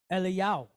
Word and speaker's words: Eliyahu: So we look at Elijah and we say Eliyahu, but if you asked it over there, his name would be pronounced how? Eliyahu. Eliyahu. Doesn't change the meaning, it's just the pronunciation of it. See what I'm saying? It doesn't change what it means, it just changes the pronunciation.